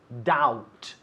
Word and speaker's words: doubt: verb to doubt doubt another silent letter what is the silent letter here it's the b we don't pronounce doubt if you doubt that